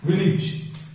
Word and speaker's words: village: जैसे विलेज, इट्स नॉट विलेज, इट्स विलेज. Marriage, carriage, marriage. तो जहां भी एज आता है इज होता है. कैरिज, मैरिज, विलेज, इज होता है.